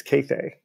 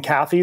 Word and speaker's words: Kathe: Her nickname, however, is Cathay. Cathay, like Cathay? That's right. Only 2 long A's, Cathay.